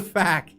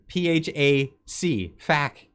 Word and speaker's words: PHAC: Why don't you just pronounce it in one? Why say hack after P? Why not just say fack? What the fack? Honestly, it's PHAC, fack.